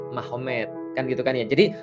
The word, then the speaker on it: Magomed: Jadi tulisnya Magomed, tapi bacanya Mahomet, kan gitu kan ya.